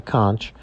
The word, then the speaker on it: conch: called a conch and it's pronounced with a hard sea conch it's not a conch they're traditionally found in